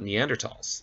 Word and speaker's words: Neanderthal: just a moment about neanderthals and yes it is pronounced neanderthal the h is silent uh this was the